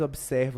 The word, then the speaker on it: observa: Ninguém mais observa o tratado. Esse observa pode ser contado como 4 sílabas. Observa. Mesmo que o B seja mudo, a gente não fala B mudo, a gente fala bi. Observa.